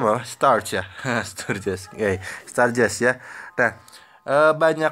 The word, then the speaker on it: Sturges: Nah, biasanya yang sering digunakan untuk menentukan banyak kelas ini adalah aturan ini ya, bacanya apa? Starch ya. Sturges.